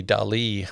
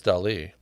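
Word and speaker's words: Dalí: I learned how to pronounce Dali. It's not Dali, like I'd said my whole life.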